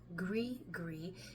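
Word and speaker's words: gris-gris: is used as a GRE gree in the voodoo practice now a gre gre is and that's g r i s g r i s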